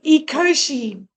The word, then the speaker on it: Ecoshe: Okay, so you say it like eco. E o eco and then she like sh h e when you say he or she. So it's eoshi.